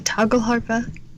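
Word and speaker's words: tagelharpa: from scratch called a Tagle Harpa. Did I pronounce that right? Close. Yeah. Oh, that was good. The toggle harpa. There you go.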